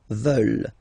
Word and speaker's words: veulent: And the last one, here, E-U, E, and then E-N-T, classic ending, but then you don't pronounce it, so you get veulent, veulent.